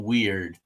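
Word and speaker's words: Weiher: um I think it's Ted Weir is how you say his last name yes Weir yeah so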